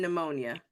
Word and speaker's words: pneumonia: The same way that they make a silent P in pneumonia.